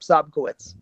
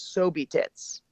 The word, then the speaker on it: Sobkowicz: I'm going to see Sobkowicz. Yeah. Did I say it right? Yep, Sobkowicz.